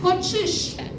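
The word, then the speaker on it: коӵыш: Ч с двумя точками произносится как ч. Да, как в слове кочиш.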